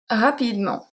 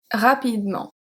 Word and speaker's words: rapidement: We have rapidement, rapidement, rapidement.